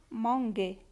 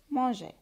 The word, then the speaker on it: mangeait: فوالا، هنا لو كان ما نحطوش لو او هذه راح نقراوها مانغي. فوالا، هنا لو او هادي نحطوها باش ننطقوها مانجي.